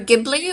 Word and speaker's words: Ghibli: guess I personally just because in Japanese there jeez um they don't have hard and soft geez it's just one um which is that's the hard G right with the good